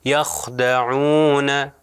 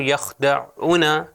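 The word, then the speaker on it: يخدعون: تو اب دیکھیں تلفظ کروں گا تو آپ دیکھیے یخدعون عون، اگر میں اس کو کروں یخدعون تو یہ غلط ہو جائے گا، وہ شارٹ ووول بن جائے گا، حالانکہ یہاں پر ہمارے لیے لانگ ووول ہے.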